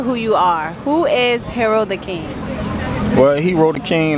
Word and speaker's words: Hero Da Kyng: literally in Times Squares with Video City with Hero the King, right? That's how you say it? Yep. Okay, we're here with Hero the King.